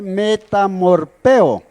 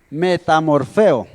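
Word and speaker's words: μεταμορφόω: encontraba una frase que se lee meta amor peo pero se lee se pronuncia meta morfeo de donde sacamos nuestra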